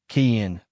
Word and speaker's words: Kian: It was Kian. Irish probably or well the diaspora variants. I checked the cultural database pronounced kin which means ancient or enduring.